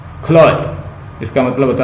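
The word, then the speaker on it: Chloe: छो खोलिस, ये लफ्ज जो है ना, ये इसकी प्रोनाउंसिएशन है क्लोइस, क्लोय, इसका मतलब होता है लवर, जो बिलव्ड है।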